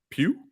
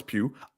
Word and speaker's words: Pugh: on the right we have uh florence uh pew yeah i think i think that's how you say it no okay florence pugh i'm a big fan of her we're all